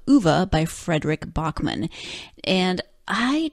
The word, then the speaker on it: Ove: Ove is how the narrator of the book, the audiobook, pronounces it, and it's also how the actors in the Swedish language film pronounce it. Ove. O-V-E. So I'm going to go with Ove.